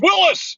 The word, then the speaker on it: Willys: yelling at this video saying it's Willis, and I get it. Uh, you know what? That's one of those things we're just gonna have to argue to the end of time. Mr. Willis did pronounce his name Willis, but Jeep has referred to it as the Willys line, so I'm not going